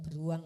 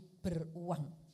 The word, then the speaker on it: beruang: Iya, ini bukan beruang ya, tapi beruang ya.